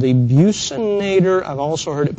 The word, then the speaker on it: buccinator: This is a muscle called the buccinator. I've also heard it pronounced buccinator.